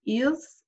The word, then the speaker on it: ils: Okay, and then the last one right here is ils and elles. We don't pronounce the S, so it would still be il, elle.